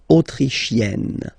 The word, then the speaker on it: autrichienne: So same thing here. You get and then double N, you open the autrichienne.